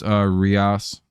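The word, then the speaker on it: Urías: All right, so it's Rias, even though they should just fucking spell it.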